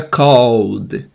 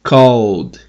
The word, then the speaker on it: called: O E não é pronunciado, então esse ED vira só o som do D. Por exemplo, o verbo call, que é ligar. Call, no passado, vira called. Called.